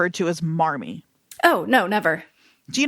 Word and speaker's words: Marmee: That was her best guess at how you would spell mommy. Oh, that's hilarious, actually. And so it's Marmee, and they just kept that pronunciation and apparently in the one with Katharine Hepburn, she does pronounce it mommy.